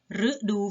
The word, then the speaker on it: ฤดู: ละ แบบ นะ คะ ฤดู ฝน อ่าน ตัว รึ อ่าน ออก เสียง รึ ฤทธิ์ เดช อ่าน ออก